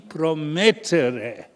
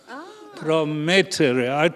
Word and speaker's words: Promettere: And the pronunciation, if you were Italian, would be PROMETTERE. PROMETTERE.